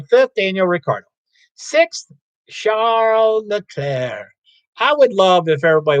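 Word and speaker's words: Charles Leclerc: his name is charles the s is silent look at claire the c is silent leclair and it's a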